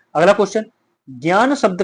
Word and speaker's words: ज्ञ: लेकिन उच्चारण इस तरह नहीं होगा। उच्चारण इसको क्या बोलते हैं आधुनिक रूप से? इसको आप लोग ज्ञा बोलते हो।